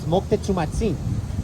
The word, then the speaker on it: Moctezumatzin: And not only that, but the Aztec king, a lot of people call him Montezuma. The real pronunciation of his name is Moctezumatzin, right?